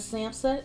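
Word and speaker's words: SAMHSA: for this because I gotta read it but samsa that's spelled s-a-m-h-s-a dot gov that is the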